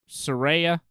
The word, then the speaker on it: Saraya: Saraya. Did I say it right? You got it right. Yeah. Shit. So, Ruby, Saraya, and Tony Storm.